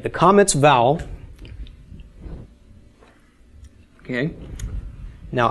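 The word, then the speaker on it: kamatz: Comets bowel okay now I've told you that is pronounced ah as in father and in fact it is in Sephardic Hebrew hmm okay it is also pronounced in the Yemenite dialect but in Ashkenazic the Comets can be pronounced as a short O or almost it's almost an AW sound aw okay that's in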